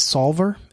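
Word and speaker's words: Soulver: It's Solver. It's spelled SOUL, like soul, right? VER, right? And it's a calculator, and it is like I love it.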